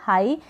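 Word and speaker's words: high: हाई क्या किया हाई यहां पर ग का उच्चारण नहीं हो रहा है हाई का मतलब होता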